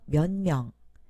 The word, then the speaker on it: 몇 명: 먼저 면명, 받침소리 디귿이 미음 앞에서 니은 소리로 바뀌었습니다. 몇 명이 오실 겁니까?